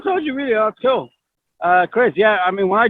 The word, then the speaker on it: Kryz: I said, oh, Kryz. Okay. Now, and Google told me Kryz. I said, okay. Is that pronouncing it right? Oh, Google told you really? Oh, cool. Kryz, yeah.